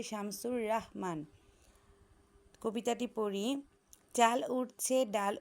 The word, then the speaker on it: শামসুর রাহমান: Cyclone কবিতাটি লিখেছেন শামসুর রাহমান। এই বানানটা তোমরা খেয়াল করবে, অনেকে আমরা রহমান বলি, এই বানানটা হবে শামসুর রাহমান।